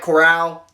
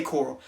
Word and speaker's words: Corral: talking about matt corll matt corral think is how they say it but i say coral matt coral if he